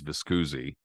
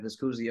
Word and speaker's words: Viscusi: I'm pretty sure it's Viscusi. Viscusi. Okay. As he hooks up with Lou Viscusi, he goes on the circuit. And back then, like you said, Viscusi also had Joe Brown and others.